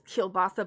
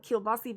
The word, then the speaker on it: kielbasa: we like really love, they say it's kielbasa, but we call it kielbasi because that's what it's what you say, how you say it in Polish.